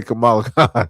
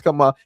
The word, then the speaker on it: Kamala: He just I was gonna say Camala. He was gonna say her name is Camala Harris. Name was Kamala.